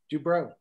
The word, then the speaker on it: Dubrow: Anyway, what matters most to Dubrow, is that how you pronounce it, or Dubrow? Dubrow, yeah.